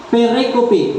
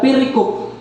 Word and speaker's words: pericope: note mga kaigsan na percope kam daw pwede ninyo malitok percope per ay okay ang uban pericop kay perico pero ang pronunciation niya is pericop ang pericop usa ka